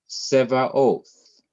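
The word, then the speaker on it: צבאות: Notice that oath is the last syllable, Ba is the first syllable away from the last syllable, and se is the second syllable away from the last syllable, and so it does not get an accent.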